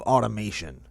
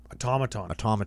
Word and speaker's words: Automaton: Adaptive Automation. Automaton. I always say that wrong. Oh, yeah. I always say it wrong every time. Automaton. Yeah, no I in there.